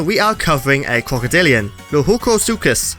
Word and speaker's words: Lohuecosuchus: are covering a crocodilian lujuko sukis although I prefer the pronunciation loyko sukis as I feel it sounds a bit more Spanish to me and it rolls off the tongue better luego sukis it sounds